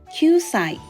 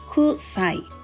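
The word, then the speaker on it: 九歳: q and C when expressing age it is pronounced as qai not Cai 9 years old equals qai qai got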